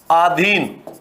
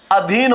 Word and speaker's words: अधीन: है आपके आधीन है तो आधीन होता है क्या क्या होता है अधीन होता है तो यहां जो अशुद्धि